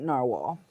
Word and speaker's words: Narwhal: It's the Icelandic Navalur, but they keep insisting they're going to pronounce it Narwhal.